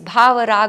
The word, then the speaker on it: bhava: i don't agree because if you go to sanskrit language bha cannot be pronounced as ba which is devotion automatically